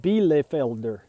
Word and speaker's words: Bielefelder: I can't remember, but it's pronounced Bielefelder, because they are from the Bielefeld region of Germany, and they are just absolutely gorgeous, aren't they?